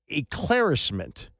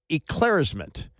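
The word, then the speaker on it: éclaircissement: It's eclaircissement, and it's spelled ECLIARCISSEMENT. Eclaircissement.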